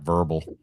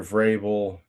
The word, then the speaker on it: Vrabel: And she pronounced it Mike Verbal. And that has to be something where somebody didn't steer her right. Seems like they didn't do it. Let's see. Coach of the Year, Vrabel, MVP Stafford, comeback, McCaffrey,